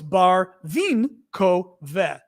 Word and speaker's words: Barvinkove: So they go, oh, it's Barvin ko ve.